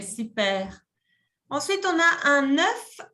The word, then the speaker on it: œuf: En français, cuando hay uno solo, on dit un œuf. Y cuando hay más de uno, on dit des œufs. Des œufs. Se pronuncia diferente. ¿Ok? Un œuf, des œufs.